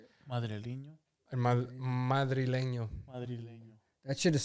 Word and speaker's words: Madrileño: Tangana's album, El Madrein. How do you say it? Madrileño.